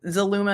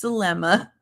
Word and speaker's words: Zulma: him on the stand he said Zuma and she said it's Zelma and he's like okay zulma